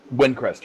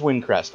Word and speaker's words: Windcrest: Windcrest? Windcrest, yes. It is Windcrest.